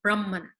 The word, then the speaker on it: Brahman: on this call know so Brahman is very different than the word Brahman or the word Brahman or Brahman both of which would refer to actually a particular class of people in society so we we don't